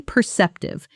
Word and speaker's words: perceptive: She's incredibly perceptive. She noticed I was upset before I even said anything. Say it with me. Perceptive. Perceptive. Notice the stress on the second syllable, p e r c